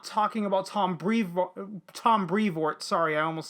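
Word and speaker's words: Brevoort: be clear i'm not talking about tom brevo tom brevort sorry i almost said his name wrong uh who was a great editor and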